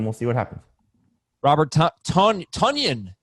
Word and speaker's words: Tonyan: Robert Tonyan, it's pronounced.